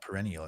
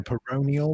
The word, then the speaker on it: peroneal: i believe is actually someone corrected me it's not perennial it's like pronervial or something but i think i got corrected actually you can't spell it i let's have a look nerve um well let me just type the word perennial in it's perennial i mean like perennial always in the mix yeah peroneal maybe maybe it's i